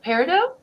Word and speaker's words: peridot: The crystals are rose quartz, of course, the diamond, and the peridot. Peridot, I think is how you say it. It's peridot, yeah.